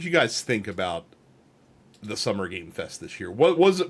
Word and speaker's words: Summer Game Fest: all about uh the summer game Fest very very important it's that singular game um it's not games Fest even though people keep pronouncing it that way um we're going to